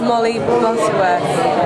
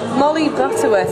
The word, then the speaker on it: Molly Butterworth: What is the proper way to say your name? It's just Molly Butterworth. What? Molly Butterworth, it's softer.